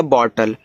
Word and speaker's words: bottle: यल से आपका ला, लास्ट में ई का उच्चारण होता नहीं तो बॉटल हो गया।